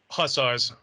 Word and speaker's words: Hussars: Hussars.